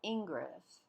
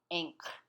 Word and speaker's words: Ingres: paint yes that's right it's not ingress although someone will know what you mean if you pronounce it thusly but the pronunciation of i-n-g-r-e-s in french is inc as an anchor inc inc was an